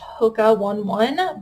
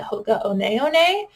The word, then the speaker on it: Hoka One One: This is a pair of Hoka One One sneakers. I was actually corrected. I thought this was pronounced Hoka 11, but I guess the company actually pronounces it Hoka One One, which kind of feels